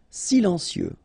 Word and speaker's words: silencieux: Final X not pronounced. Okay. This part here will be pronounced like cieux. Okay. Then you get si lan cieux. Silencieux.